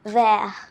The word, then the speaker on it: vers: Okay, repeat after me, where.